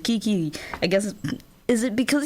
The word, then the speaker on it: KK: It's written KK, but he pronounces it Kiki.